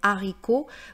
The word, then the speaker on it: haricot: aspiré ou H muet, on ne prononce pas le H en français.